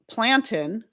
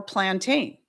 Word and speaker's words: plantain: But even here in the States, it can be pronounced plantin or plantain. It's really kind of all about where you put the emphasis and whether or not you make that second syllable a long a sound.